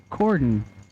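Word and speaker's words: Corydon: 93 in the right so is it Cordon Kentucky did I s it right Cordon so the Y is silent I would imagine that just bringing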